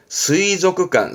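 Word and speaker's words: 水族館: 수족관, 스이조크관, 스이조크관.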